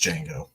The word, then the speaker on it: Django: I'm moving on to Django I know it's pronounced Jango I have the movie